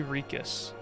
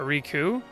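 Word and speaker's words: Rikku: hey strikas it's probably rikus sphere grid breaks her because with her overdrive you hit multiple 99 it's like six Reco oh a Riku it's Riku the S is silent I meant recuse oh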